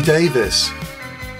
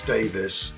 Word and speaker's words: Davies: It's Ray Davies. Or to be more precise, Sir Raymond Douglas Davies, CBE. The E is silent.